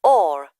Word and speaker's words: Orr: Orr. S-O-N-Y... No, I'll spell it.